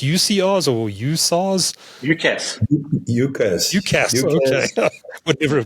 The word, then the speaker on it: UCaaS: Everything seems to be as a service these days, but UCR, is it pronounced UCRs or USARs? UCaaS.